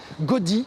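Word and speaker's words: Gody: le connaît puisque c'est André-Louis Gaudy, ça s'écrit G-O-D-Y.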